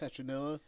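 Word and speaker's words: Saturnalia: was a satonil SAT oh I'm going to pronounce satella that sounds right s a t u r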